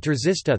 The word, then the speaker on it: trzysta: Polish words czysta, clean, F, pronounced with an affricate, T, and trzysta, 300, pronounced with a sequence, T, are an example of a minimal pair based on such a contrast.